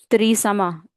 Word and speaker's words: त्रिसामा: Having a call okay ये त्रिसामा that's how you read it right त्रसा हृदयम तस्य शांति अर्थ विनियोजते okay चलो हम फिर से ये श्लोक को एक बार बोल देते हैं।